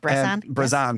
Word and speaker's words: Bressan: I pronounced that right, Bressan? You did, Bressan.